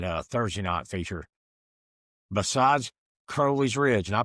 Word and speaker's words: Crowley's Ridge: It's Crowley's Ridge.